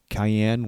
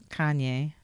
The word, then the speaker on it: Kanye: Cayenne West. Is that how you pronounce his name? Kanye.